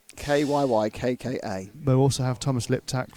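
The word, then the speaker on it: Kyykkä: His surname is Kyykka, with a hat. Any Finnish watchers Kika. It could be on Kika. YouTube? Could you just do a phonetic? How do you pronounce double Y double K? Yeah, just tell us how you pronounce Kyaka. Kyykka.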